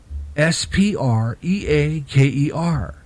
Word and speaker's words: Spreaker: and start an account SPR EA ke R spelled like speaker only there's a are in there SPR EA ke er